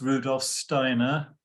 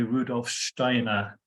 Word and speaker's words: Rudolf Steiner: I'm going to refer to him as Rudolf Steiner, which is the kind of anglicized pronunciation. If you move in more Germanic circles, of course, they will say Rudolf Steiner, which is the correct pronunciation, but I'm going to